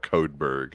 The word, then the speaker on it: Codeberg: Check out Codeberg. How do you spell that? There's Codeberg, like iceberg, but Codeberg.